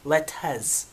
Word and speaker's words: 4LTZ: Y'all, you see the title of the video, dang on 4 letters, Letez. Let me get my hip-hop on. Letez. We don't pronounce R.